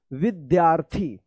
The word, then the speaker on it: विद्यार्थी: विद्यार्थी। और यहाँ पे देखिए आधा द और य, तो क्या पढ़ेंगे? विद्या। विद्या या है ना, तो विद्यार्थी।